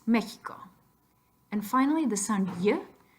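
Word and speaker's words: México: Spanish so pot door then with the huh you have three possibilities a G and J or an X G paint they J come on X Mexico and finally the Sun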